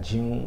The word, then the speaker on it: Jeune: patrickjune so that's p-a-t-r-i-c-k dot june which is spelled j e u n e gotcha he's